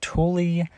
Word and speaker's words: Thule: Guys, I'm going to do a review of this Tuli 615 large cargo rooftop box. Now, I thought it was pronounced thool, but it's pronounced Tulie apparently.